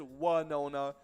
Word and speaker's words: Winona: You look at it, and it is Winona. The town was made a big deal of during the Super Bowl with Winona Ryder filming a commercial there for Squarespace. She and the town pronounced their names differently.